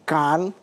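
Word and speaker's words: Cannes: penghargaan bergengsi dunia seperti Kan. Tahu enggak kan? Enggak. Enggak. Tulisannya chanes itu loh. Kan bacanya kan.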